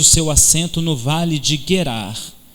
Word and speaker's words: Gerar: acampamento no lugar que se chama gerar na realidade a pronúncia é Hebraica é guerrar a primeira reação de